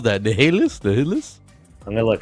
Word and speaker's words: Nihilus: I see Nihis. That is an L. Right? It is an L. Nihilus.